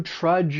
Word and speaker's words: trudge: For pronunciation, it's just one syllable. That dg has that J sound similar to the word judge. These are rhyming words.